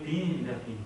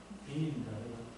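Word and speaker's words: Wien: 제일 앞에 있는 게 인상 깊은 게 W가 와스팔 때 W가 그 빈입니다. 비엔나. 그게 이제 우리는 비엔나 그러면 V지만 그쪽 독일 계통에서는 W가 V가 발음이 나거든요. 그래서 빈입니다.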